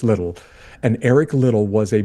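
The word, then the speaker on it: Liddell: Lidell is sometimes how it's pronounced or sometimes what it's what people call him, but it's Little.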